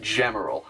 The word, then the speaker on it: Gemerl: And yes, it's pronounced Gemerl, not Gemerl or Gmail or Gmail or what I mean, Gem, Emerald, Gemerald.